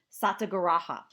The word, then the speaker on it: satyagraha: Gandhi referred to these demonstrations he called them satyagraha which meant truth force and I'll spell that for you too SAT Y a gr a H a so satyagraha which means truth force and it